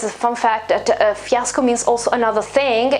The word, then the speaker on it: fiasco: here fiasco fiasco fiasco this is a pronunciation uh almost the same pronunciation as the the o in bravo because it's i mean it's almost the same sound in english and it's the same sound in italian too because the right pronunciation is fiasco and yes it is